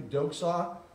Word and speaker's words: doxa: That word there in front of you, doxa, doxology, right? Praise God from whom all blessings flow, right? A doxology is glorifying God. Doxa is really the way it's pronounced.